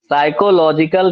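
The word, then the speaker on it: psychological: साइकोलॉजिकल test, P silent रहेगा।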